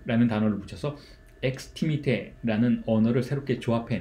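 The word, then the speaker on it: extimité: 다시 가지고 와서 설명을 드렸어요 외무성 이라는 것은 xt 밑에 라고 발음을 하는데 그런 서로 이건 원래 있었던 단어가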